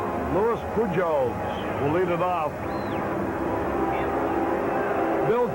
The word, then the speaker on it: Pujols: paid the catcher louis pujols who's nothing out of two i always forget to pronounce the j's like h that's why i call